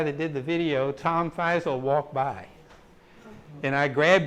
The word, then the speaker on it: Feisel: Ken Feisel. Yeah, and I always say his name wrong. Feisel is correct.